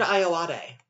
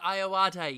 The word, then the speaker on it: Ayoade: it uh fantastic in it as well Richard ayalade Richard ayoade yes that's it I always the pronunciation apparently he was in the I.T crowd